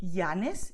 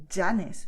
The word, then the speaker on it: Llanes: But in other regions, and for example in Castilian Spanish, the tendency is to make a sound which is G, okay? So like jeans. So the thing is, it doesn't sound like a vowel. In this case, yes, if you say Llanes, you're using the sound of a vowel.